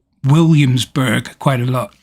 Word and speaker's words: Williamsburg: um and i say williamsburg quite a lot now it's williamsburg which is four or five syllables um in the states but it's to me it's williamsburg so that's all over the